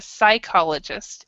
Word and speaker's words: psychologist: a suicide asylum yeah with these words the P is silent I'm not sure why so but yeah so it's a psychologist and if they're usually